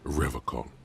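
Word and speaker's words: Revachol: locks at his feet he pronounces rivercon with a hard K unlike other people serious question time this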